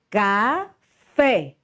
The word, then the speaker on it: café: Café. Fé é a sílaba mais forte.